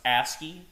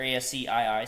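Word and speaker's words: ASCII: The terminal was originally in and guys this word is uh pronounced ASI or ASC2 ASI or ASCI sorry.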